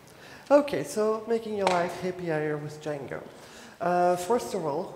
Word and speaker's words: hAPIer: It looks good written down, but I was not sure how to pronounce that. Okay, and full screen. This should be good. Okay, so making your life happier with Django.